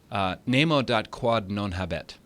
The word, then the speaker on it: nemo dat quod non habet: I looked it up so I wouldn't mispronounce it. It's a Latin phrase, nemo dat quod non habet.